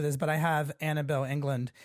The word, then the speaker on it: Englund: But I have ANABEL England. Did I pronounce that correctly? England? Yeah, ANABEL England, England joining me today.